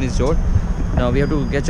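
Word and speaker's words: Mjódd: The place name is Jord, M-J-O-D. Pronunciation is Jord.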